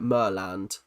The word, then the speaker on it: Maryland: People from Mryland pronounce it Merland.